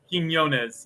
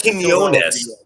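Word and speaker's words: Quiñones: Quinones. Yeah. So like Quinones. Quinones. Okay, Q-U-I. there are two N's in there. That's what makes it confusing.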